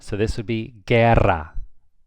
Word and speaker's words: guerra: If it's a GUE, the U is silent. So this would be guerra, guerra.